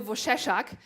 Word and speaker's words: Wojcieszak: is my old name and yeah the right pronouncing of my name is Bush a shock but nearly no one is able to do